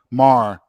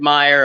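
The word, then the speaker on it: Maher: You said Meyer, I said Mayer, and I think Sean's pronunciation of Mar has been right the whole time.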